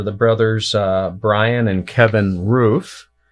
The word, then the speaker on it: Ruef: They're the brothers Bryan and Kevin Ruef. Kind of like which goes on top of your house, but it's spelled differently, R-E-U-F.